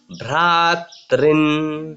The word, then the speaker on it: भ्रातॄन्: और हम इसलिए वो जब हम लोग यह उच्चारण करेंगे तो पितृनाथ पितामहन् पितृनाथ पितामहान् आचार्यान् आचार्यान् मातुलान् मातुलान् भ्रातॄन् भ्रातॄन् आचार्यान् आचार्यान् मातुलान् मातुलान् भ्रातॄन् भ्रातॄन् पुत्रान् पुत्रान् पौत्रान् पौत्रान् सखिंस्तथा।